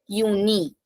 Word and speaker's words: Juni: So starting from J, pronunciation Y. Juni.